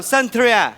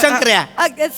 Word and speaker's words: शंकऱ्या: Hello, Santria.